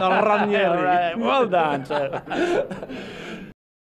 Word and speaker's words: Ranieri: You hit the R, eh? Ranieri.